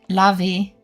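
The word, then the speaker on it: Levi's: Is it Levi or Levy? I don't remember which one I said first. Germans pronounce it lavi.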